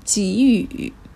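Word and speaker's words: 给予: chữ này đằng sau chúng ta đọc chữ này thành chí ủ chí ủ bây giờ đọc thành chỉ không đọc là cẩy nữa nhá chí ủ cũng nghĩa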